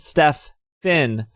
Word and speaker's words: Stefan: Hi, my name is Stefan, pronounced Steph Finn.